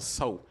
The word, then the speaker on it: So: I actually had to ask the pronunciation. Chanel. I had to ask that one. At first I thought it was Saw, but in fact Chanel So is the pronunciation of her last name.